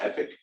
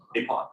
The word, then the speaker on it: epoch: Is it called epic? Is that how you pronounce that word? Yeah. Epoch.